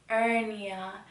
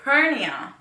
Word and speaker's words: hernia: she's like what but apparently white people they don't say ernia like how it's spelled y'all ever hate that like you say something how it's spelled and then they're like um way like ernio hernia you say hernia but i'm reading it it says ernie but they say hernia hernia i don't know so